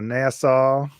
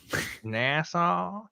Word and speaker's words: Nassau: I go down to Nassau Nassau damn son you got that all the way from Nassau that's crazy are right both are right I pronounce it zod's way myself no you're actually wrong